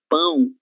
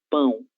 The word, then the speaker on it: pão: Es la cuestión de que el sonido de pão, el aire sale por la nariz, es un sonido nasal, pão, E agora pau, que